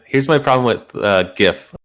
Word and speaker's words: GIF: my problem with uh gif when people say it i think they're saying gift like a birthday gift so i think jeff's